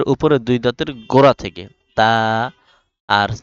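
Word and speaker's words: ت: জিহবার আগা সামনের উপরের দুই দাঁতের গোড়া থেকে তা আর সা উচ্চারণ হবে সামনের উপরের দুই দাঁতের আগা থেকে সা এরপর জিম জিম এরপর হা।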